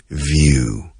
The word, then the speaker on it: view: pero lo importante es view, con V, view, que se pronuncia como una F, few, vibrando las cuerdas vocales a la vez, view.